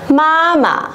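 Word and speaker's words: 妈妈: Vậy thì chúng ta vẫn sẽ dồn trọng âm vào âm đằng trước và đọc lơi cái âm đằng sau ra nhá. Mama.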